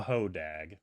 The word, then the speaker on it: Hodag: off tell us about the Hoag can you spell it h o d a g okay a